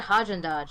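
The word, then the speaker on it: Häagen-Dazs: you not know what haagen-dazs is i don't see sort of we call it a different thing here what do you call it there we call it hodgen dodge like we pronounce the g oh yeah wait you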